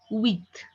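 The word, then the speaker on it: huit: 8 will be pronounced as wheat.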